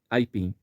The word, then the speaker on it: aipim: quantos impulsos sonoros sai para falar aipim a pim reparou a pin a pin São só dois dois ápices sonoros dois ápices de ar que saem da boca e dentro do primeiro Ápice temos o som forte do a e o som muito fraco do I esse I aparece